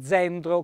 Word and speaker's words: zenzero: cena che sta e zenzero con la è aperta e una z dolce quindi tendo è il